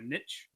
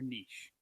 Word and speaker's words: niche: But there's two ways to pronounce it. It's either niche or niche. Niche I find to be more like European and like sophisticated. There's no T in the word, though, is there? No, like niche.